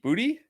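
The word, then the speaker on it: Boutte: I know it sounds crazy, but I think Bouty Bouty booty. How do you say it was Booty? Straight up.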